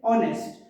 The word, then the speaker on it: honest: honest we should say honest here h is silent next silent k knock